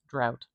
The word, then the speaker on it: drought: That is a great suggestion for a word, a really good illustration that English spelling is really inconsistent with how it's actually pronounced, isn't it? Look at all those letters, and really we have 1, 2, 3, 4 sounds.